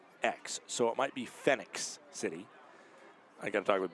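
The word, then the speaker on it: Phenix City: Apparently, it is pronounced Phoenix, so it is Phoenix City.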